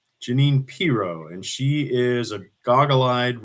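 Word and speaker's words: Jeanine Pirro: You're you're slightly mispronouncing the lady's name. Uh, obviously you don't watch enough Fox News, so this is a blessing, uh, not a curse. Uh, it's Janine Pro. Janine Pro.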